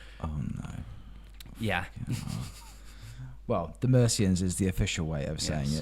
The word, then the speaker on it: Mercians: band okay the mercians I for some reason didn't think they were pronounced the mercians honestly right the Americans that was what I initially thought the merians the Mexicans I've